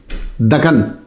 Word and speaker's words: دکن: کو مطالعہ کر لیجیے۔ دکن، اس کا تلفظ دکن ہے، ویسے دکن کہہ دیتے ہیں۔ یہ اگر عربی